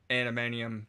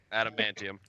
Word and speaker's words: Adamantium: And I want to put a fucking ring on that animanium finger of Wolverine's. Adamantium.